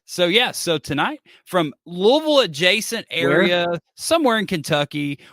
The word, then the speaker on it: Louisville: right I didn't pronounce Louisville home of the Sluggers it's Louisville like like many people say like you have to say it like you have marbles in your mouth but you know that